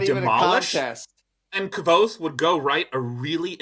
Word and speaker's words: Kvothe: pronounced? It's Oh, Kvothe, Kvothe.